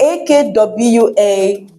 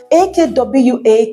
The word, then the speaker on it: akwa: AKWA can be Akwa. If you say it as Akwa, it means clothes. If you say it as Akwa, it means egg. If you say it as Akwa, it means cry.